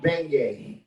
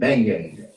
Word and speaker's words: beignet: Jambalaya and beignet. That don't sound right though. Somebody say the right word. Beignet. Beignet? Yeah. Beignet? Beignet. The G is silent.